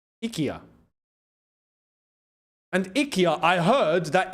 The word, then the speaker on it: IKEA: If we're going to say it correctly, as um as as the Swedes say, Ikya. Yeah. It's IKA. It's not IKEA. We've been saying it wrong for decades. It's not IKEA, it's IKA.